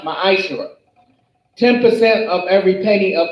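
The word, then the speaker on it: מעשר: Means tenth in the Hebrew and is pronounced ma'ashera.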